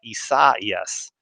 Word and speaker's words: Isaias: all that tropical moisture down there with uh issa yes yeah good good pronunciation brad i like it yeah i think